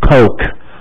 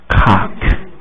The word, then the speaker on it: Coke: 是可乐，这是可乐 Coke，很好喝，它念成 Cock，这是公鸡，另外一个意思叫做鸡鸡。